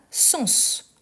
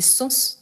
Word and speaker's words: sens: Mais on a sens. Sens. Et ici, c'est différent parce qu'on prononce le S. Donc, c'est pour dire qu'est-ce que ça veut dire, les sens d'un mot.